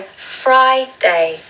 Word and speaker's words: Friday: So Friday. Stress falls on the first syllable again.